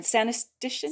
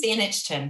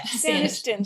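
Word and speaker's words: Saanichton: I'm going to mispronounce it again. Sanistishan? Saniston. It's the First Nations word. Yeah. Saniston.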